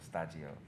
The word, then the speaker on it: Shtajio: And so, and in Japan, they always say stagio to pronounce studio. Yeah. So I just thought it would be kind of interesting to put those two together. So stagi and studio, so stagio.